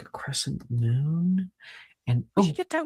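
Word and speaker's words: Mun: But why is it pronounced moon?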